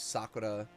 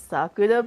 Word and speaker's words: Sakura: like I I mean I try to say it with the Japanese accent as much as possible